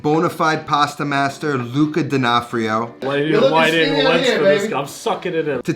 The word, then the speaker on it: D'Onofrio: Last name D'onofrio? D'onofrio, yeah.